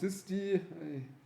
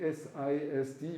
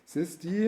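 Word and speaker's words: SISD: I believe it's pronounced this D I I I would actually say s i s d but this is not how people pronounce it this D is called single instruction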